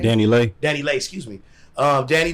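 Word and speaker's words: DaniLeigh: Now I know Dan Lee, is that how you say her name? Danny Lay.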